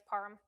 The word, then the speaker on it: Parham: It's not Parham. It's Parm.